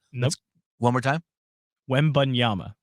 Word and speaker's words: Wembanyama: Wembanyama is going number 1 to the San Antonio Spurs. No, What'd you just call him? Wembanyama. Wembanyama. Nope. One more time. Wembanyama.